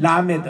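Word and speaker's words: למד: 그런데 이 라메드 할 때는 l 발음으로 그대로 해줘야 돼요.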